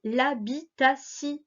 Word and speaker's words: habitation: Donc il ne se prononce pas ti, mais si, dans certains cas. Comme ici, l'habitation, l'habitation. Je vais te montrer des mots.